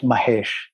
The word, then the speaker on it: Mahesh: next generation so my first name is pronounced correctly although i never really bothered correct too many people it's mahesh mahesh say it again just one more time mahesh